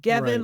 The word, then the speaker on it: Gevin: Gavin my name is Gavin like G pronouncing it like heaven with a G but it's spelled like K with a G so that people get